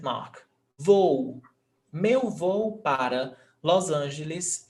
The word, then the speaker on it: voo: Voo, meu voo para Los Angeles é 3 horas da tarde. Voo, two syllables. Voo, voo, two syllables. Hiato, no accent mark.